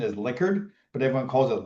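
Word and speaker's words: Likert: Well, I think the the correct pronunciation is liquard, but everyone calls it liyker.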